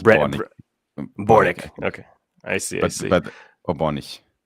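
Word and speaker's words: Børnich: It's just Bornik.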